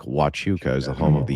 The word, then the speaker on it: Huachuca: Fort Huachuca, pronounced like Wachuca, is the home of the US military intelligence.